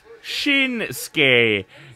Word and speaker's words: Shinsuke: Shinsuke. The U is silent.